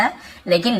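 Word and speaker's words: whole: दिया, द होल हट, होल W silent होता है लेकिन लिखते जरूर है, होल बस पढ़ेंगे, होल हट यानी पूरी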